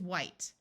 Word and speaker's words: white: is with a consonant W and H together in most of the US sounds like w but in some parts it sounds like H where the H sound is pronounced before a w rather than the h being silent so this word is white there are a few